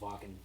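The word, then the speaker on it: Wacken: __ ] it's with a W but it's pronounced walking uh that's right German w-a-k-e-n good old German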